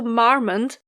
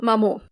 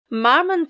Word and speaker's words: Marmont: read the name and i was absolutely convinced that it was pronounced french you know mamo chateau mammal but marmont lane is actually named